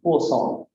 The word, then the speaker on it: Poisson: By the way, how to pronounce Poisson? P-U-O, think of it as Poisson. That's apparently correct. My French collaborators tell me.